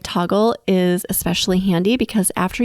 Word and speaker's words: Toggl: personally love and use the toggle app it's spelled t o g l it is a free